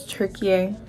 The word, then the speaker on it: Türkiye: put it down here but that's how they pronounce is tury so I'll be saying turkey in the video